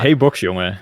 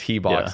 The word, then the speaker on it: He: like I cannot Hey is the correct pronunciation. Yes, but you got the part down quite well. But yeah, the Americans always like to say he. Yeah, just he box is just it's just